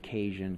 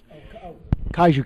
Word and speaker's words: Kaiju: And then we also work with Brian Borgman, who is creating, I believe it's pronounced Cajun Chaos. Kaiju Chaos.